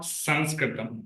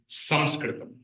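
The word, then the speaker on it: संस्कृतम्: It's not Sanskritam. That's a wrong. Okay. According to the rules of Sanskrit grammar also, we don't pronounce it as Sanskritam. It is actually Samskritam. Okay. Anuswar should be pronounced as makara. Okay. Not nakara.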